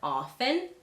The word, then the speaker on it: often: But just know that many people pronounce it with a silent T.